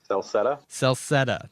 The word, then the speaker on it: Celceta: Pronounce that for me, would you? Celceta.